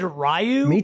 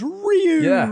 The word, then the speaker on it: Ryu: know playing around with I always said rayu when you click him when you click him on the game it goes Ryu and I'm like oh it's Ryu I've been saying it wrong my trying to change